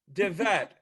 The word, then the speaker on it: DeVette: DeVette.